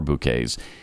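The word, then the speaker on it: Bouqs: It's spelled B-O-U-Q-S. It's short for bouquets, so you can remember it that way.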